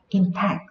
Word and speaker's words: impact: khi nó ở dạng danh từ khi nó đứng ở vị trí là danh từ thì trọng âm của nó rơi vào tiết đầu tiên khi nó đứng ở vị trí là động từ trọng âm của nó sẽ rơi vào tiết thứ hai impact Thì cái đó